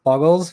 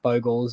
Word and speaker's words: Bogles: or boggles um i i learnt as boggles but uh i i figured when i started creating content i should probably call it by its actual name um so yeah got the habit of calling it boggles um but i do believe it's pronounced bogels and there is a